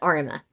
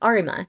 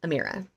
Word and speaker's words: Arima: up into a different it's arima i wanted to double check so it's arima not amira please check my checking